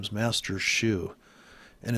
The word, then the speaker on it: Xu: from San San Francisco his name is master Shu and it's spelled XU in case you're listening hello master Shu little guy little guy from probably Chinatown and